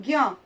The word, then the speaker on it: ज्ञ: ज्ञ ज्ञ आधे ज और ञ से मिलकर बना है। ज्ञं बन गया।